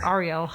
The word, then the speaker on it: Ariel: Do you prefer Ariel or Ariel or Ariel or Ariel? Actually, none of them. It's Ariel.